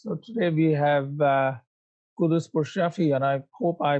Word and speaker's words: Quddus Pourshafie: from the trenches so today we have uh kudus for shafi and i hope i pronounced your name correctly plus perfect from future